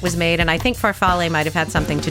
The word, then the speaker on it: farfalle: Falafel? Oh, farfalle?